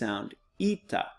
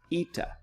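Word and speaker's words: ήτα: Zita then the next looks like an H or an N but it is an east eita eita and then the next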